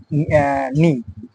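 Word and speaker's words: knee: কেন কিছু ওয়ার্ড আছে এখানে কে সাইলেন্ট সাইলেন্ট থাকে নি এন কে এন ডবল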